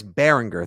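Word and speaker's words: Baringer: booty not boote and it's a hard G it's Bryce Behringer thank you very much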